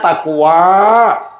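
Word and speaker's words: تقوى: Yar takwa apa hurufuna ta qof wau alif bacanya takwa ta dari kata tawadu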